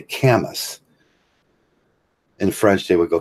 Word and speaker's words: Camus: And that's like, say, when I say Camus. In French, they would go Camus. And that's when I say Kimmy, that's what I'm talking about.